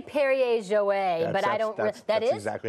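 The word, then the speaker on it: Perrier-Jouët: Because I say Perrier Jouet, but I don't. That's exactly how you say it? Yeah, so Perrier Jouet, and that is what kind?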